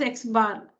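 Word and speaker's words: x̄: X and a bar on it, which is read as x bar. Small letter x, a bar on it, x bar. So this is how it's written symbolically, and it's pronounced x bar.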